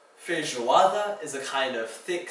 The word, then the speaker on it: feijoada: In Portuguese, that zh makes is spelled with a j. Feijoada is a kind of thick stew made of black beans and meat.